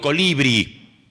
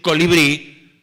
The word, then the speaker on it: colibrí: Porque si yo veo la palabra digo colibri. Colibri. Qué lindo colibri. Pero debo decir colibrí y debo ir contra mi naturaleza castellana de poner el acento en el medio.